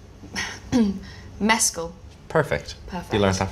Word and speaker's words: Mescal: last name for me I'd like you to pronounce my last name I got it wrong Mescal perfect perfect you learned that from Andrew Scott